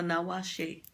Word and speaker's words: nawashi: A nawashi. It rhymes with tawashi, which is a pot scrubber.